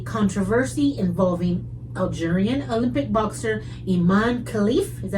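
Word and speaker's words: Imane Khelif: 2024 featured one moronic transgender conversation after another, culminating in a controversy involving Algerian Olympic boxer Iman Khalif, is that how you say it?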